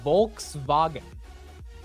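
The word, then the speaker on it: Volkswagen: oh is it is it wait so it's Volks vagen is that the right way to say it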